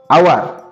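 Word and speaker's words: hour: তারপরে দেখো আওয়ার, আওয়ার দেখো আওয়ার, আওয়ার ও উচ্চারণ হচ্ছে কি না, এচটা সাইলেন্ট রয়েছে কি না, তো এচ হব এটি সাইলেন্ট হেলা।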